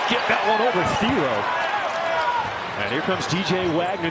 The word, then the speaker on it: Thiero: I called him Thiero the last couple of years in Kentucky because that's what his name was.